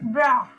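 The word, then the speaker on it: bras: Then bra, bra, arm. You are not pronouncing last S.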